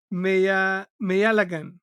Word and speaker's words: Meiyazhagan: uh it's just the pronunciation. Meiyalagan, right?